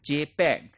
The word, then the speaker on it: JPEG: So for that, what we use JPEG, JPEG. This is pronounced as JPEG, and this is standard developed by Joint Photographic Expert Group and widely used for photographic industry as well.